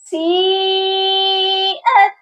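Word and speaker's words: سيئت: فَلَمَّا زلفتاً، یہاں تنوین پر اخفا کریں گے، سیئت، اور اس لفظ کو ایک بار سپیلنگ کر کے پڑھتے ہیں، سین یا مد زیر سی، حمزہ تا زبر ات، سیئت، کلیئر ہو گیا؟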